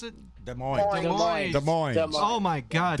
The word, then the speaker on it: Des Moines: Is that how you pronounce it? Des Moines.